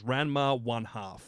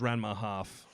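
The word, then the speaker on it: Ranma ½: The actual official pronunciation is Ranma 1/2. That's what they market it as. I always thought it was Ranma half.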